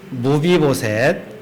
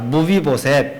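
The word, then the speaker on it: 므비보셋: 무비보셋. 한번 따라해 보겠습니다. 무비보셋. 무비보셋. 예.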